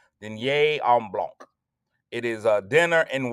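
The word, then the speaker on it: Dîner en Blanc: It's spelled DINER ENBLANC. Denier en Blanc. And if you didn't know how to say it, the host said it 4,336 times per hour. Denier en Blanc.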